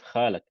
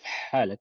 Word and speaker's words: حالك: So when he was trying to pronounce it, he said كيف خالك instead of حالك.